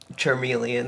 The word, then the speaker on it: Charmeleon: Charmeleon, that's how you say it.